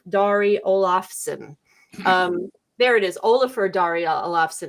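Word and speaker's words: Ólafur Darri Ólafsson: There it is, Olafur Dari Olafsson. It's on the screen. I'm sure I butchered that terribly, but he's been in a few things as well.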